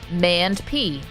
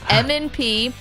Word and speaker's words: M&P: Some people think that's pronounced MAND-P. It's not. M&P.